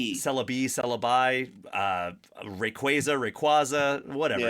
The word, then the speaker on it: Rayquaza: mythical Pokemon that Celabe Celabe, Celabi, uh, Rayquaza, Rayquaza, whatever. It's tomato tomato. Uh, although Rayquaza is the official pronunciation I learned from Sarah Natenny when she came on the podcast.